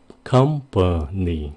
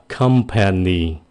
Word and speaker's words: company: Company. Mình không có nói là company, nghe nó hơi dài, không có tự nhiên. Người bản xứ họ phát âm là company.